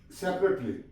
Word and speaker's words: separately: तो इसकी हम प्रोनाउंसिएशन कैसे करेंगे? सेपरेटली, सेपरेटली। अब ये ए जो है ये इसमें साइलेंट है।